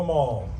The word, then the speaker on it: Amal: Hello, Amal. It's great to see you. Thank you so much for being here. My name is Jamal, so our names actually rhyme with each other.